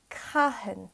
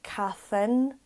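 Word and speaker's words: cathain: So if you ever see a T followed by a H in Irish, then it makes the T silent. Just pronounce the H. A lot of people make that mistake sometimes. Like they might say cathin, for example, because they're used to the TH from English being th.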